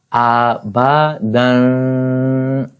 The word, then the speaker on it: Abadan: Dal double fatha dan, a ba dan, and this alif is without any sign of zabar, zair or pesh, fatha, kasra or dhamma, so it is silent. We will not read it. And the letter that we are reading here are 3: a, ba, dan, and the word sounds like a ba dan.